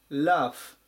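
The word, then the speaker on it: laugh: です 786 番ラフラフ発音に注意ですねこの G の辺りで濁らないように気をつけてください濁らずにラフていう風に発音します声に出して笑う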